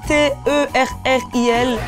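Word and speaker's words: terril: je vais vous dire c'est écrit T e r r I et ça se prononce Terri c'est un vestige qui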